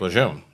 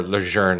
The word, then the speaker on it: Lejeune: only thing I heard until recently when they started promoting the correct pronunciation of Camp Lejeune. But to me, it's still Camp Lejeune. Yeah, there's no R in there.